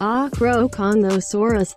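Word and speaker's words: Acrocanthosaurus: its physical description is locked within its name pronounced acroconuosaurus this means high spine lizard a name chosen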